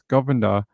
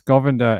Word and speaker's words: Govender: on Thursday following the death of Denise Govender. That's the way they pronounce her name, but it's got an E in it.